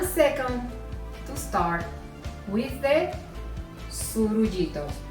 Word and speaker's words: surullitos: So give me 1 second to start with the surullitos. How do you say that name? Surullitos.